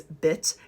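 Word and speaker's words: bjt: again, here is bee, which is bit in ancient Egyptian, you also have the word here for honey. And you would think, oh, maybe that's pronounced differently. No, it's not. It's also pronounced bit, but the only way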